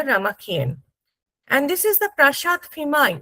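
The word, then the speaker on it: Prasat: And this is the Prashad Phimai. We said Prashad, D, Do, and they pronounce it as a Prashad, To.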